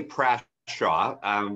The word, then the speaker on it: Prashaw: We say Prashaw. The Americans say the other pronunciation, so that's fine.